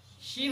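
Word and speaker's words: شين: অংশ এবং উপরে তালুর সাথে মিলে কি হয় শিন উচ্চারণ হয় জিহ্বার মাঝের অংশ এবং উপরে তালুর সাথে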